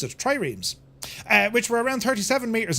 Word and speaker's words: triremes: That's how you pronounce it, triremes, which were around 37 metres in length, 6 metres wide, with 3 banks of oars.